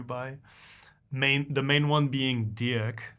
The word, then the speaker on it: Dirik: and I changed to pronounce it the original way, which is Dirik, and yeah, German, especially Germans, they see it and they think my name is Dirk.